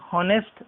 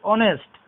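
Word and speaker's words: honest: N honourable person, an ऑनेस्ट man, this is नॉट हॉनेस्ट, this is ऑनेस्ट।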